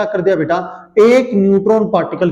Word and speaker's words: बीटा: ALPHA, alpha, ठीक है बेटा। ऐसा जो निशान लिखा है इसको हम बीटा, BETA, बेटा नहीं बेटा, बीटा बोला जाता है।